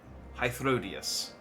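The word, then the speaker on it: Hythlodaeus: We've also run into Emmett Selk, who we also previously killed, and Hythrodeus. There we go. I keep thinking there's an extra syllable, and it throws me.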